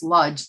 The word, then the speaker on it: Łódź: They pronounce it Łódź. It's Lodz to me, Lodz.